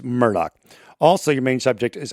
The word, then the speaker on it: Murdaugh: extensive research on this they say murdock like it's not that's just the way it's said down there we've checked it out so it is murdoch also your main subject